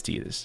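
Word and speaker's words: Tidus: discussion about the cannon, then his name is Tetus.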